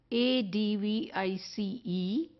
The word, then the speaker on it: advice: it is spelled as a d v i c e and it is pronounced as advice the same as the sound comes from ice or mice so this is the